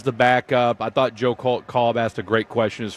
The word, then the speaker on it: Kolb: Do you think, What'd you call Cobb, right? Jeff Kolb. Cobb? I mean, Kolb. Okay, well, Kevin Cobb, the former quarterback, pronounced it Cobb. So is it Cobb or Kolb? Kolb.